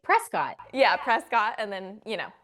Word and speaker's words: Prescott: And then you guys also saying Prescott correctly. Thank you for doing that. Because everybody. Because it's spelled like Prescott.